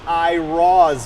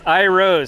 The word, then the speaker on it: Iroz: It is not Iroz Motorsport, it is... It's Iroz.